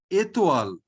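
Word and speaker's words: étoile: Whenever this acute accent or accent aigu is over E, we pronounce the E as A. Like in grave accent, we pronounce it as A. Here we pronounce it as A. Okay. So what will be the pronunciation? Atoll. Say again. Atoll. Etoile. Atoll. Exactly. OI is OA. So etoile.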